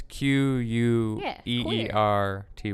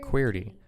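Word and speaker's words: Queerty: LGBT based magazine or some type of called weirdy I do but I I just want to make sure I'm saying it right because it's qu e ER T why we got queer D okay queer T and he said that when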